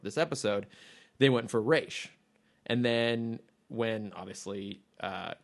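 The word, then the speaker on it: Ra's: whole thing but so it is arabic for the demon's head and the arabic pronunciation would be raz okay um but the creator went with the hebrew pronunciation which is reish so when this is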